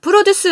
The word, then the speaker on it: produce: produce 아니에요. produce. 강세 뒤에 있습니다.